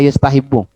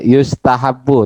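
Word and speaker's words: يُسْتَحَبُّ: nanti di kitab-kitab itu baca yustahibu. Namanya pasif, fi'il pasif. Majhul. Ya, yustahabu. Tapi karena materi belum selesai ya gak apa-apa, ini dimakfu lah, dimaafkan. Jadi dibaca yustahabu.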